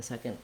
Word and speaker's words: second: that in this video the word second has first syllable stress it sounds like se it's the red tent vowel in the first syllable so thinking about that like we basically have no vowel in the second syllable so this letter o is going to be either a schwa or almost no vowel at all go right from the k to the nd second